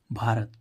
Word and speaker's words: भारत: उच्चारण भाव होता है जैसे बी एच ए आर ए टी भारत तो देखो यहां पर बी एच बी के बाद क्या आ रहा एच तो इसका मुख्य रूप से उच्चारण क्या हो रहा है भा ऐसे ही इसमें देखो